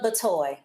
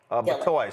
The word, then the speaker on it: Batoy: Just pronounce that for us. Batoy. Batoy.